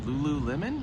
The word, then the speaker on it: Lululemon: or something like that Lululemon is how you say it Lulu Mon I don't